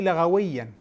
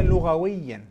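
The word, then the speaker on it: لغويًا: مش هتكلم في الدين، بس القرآن مش قوي لغويا. اولا اسمها لغويا مش لغويا.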